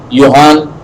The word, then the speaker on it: Johann: Okay, his whole name, his full complete name was Johann, pronounced with a Y. Okay, it's a German name. It is not Johann.